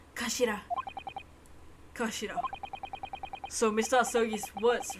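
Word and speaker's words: 頭: Written as head in Japanese, but it's pronounced Kashira.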